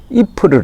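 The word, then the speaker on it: Ypres: 열로 표기로 는 y pres 이 2ls 이렇게 발음이 되는데 이 곳에서는 이 푸르 라고 부릅니다 이 풀을 하면은 저 전사에 관심을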